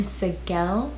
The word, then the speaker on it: Segel: James, Meghan Trainor, Dolly Parton, Liam Hemsworth, Jason Segel, that's how you pronounce it, Mary J.